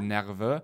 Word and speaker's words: nerveux: I was nervous, but the way I pronounced it at the time is I said 9 heures, Oui. as in like 9 o'clock. Okay. 9 heures. Okay. Right? Instead of nerveux.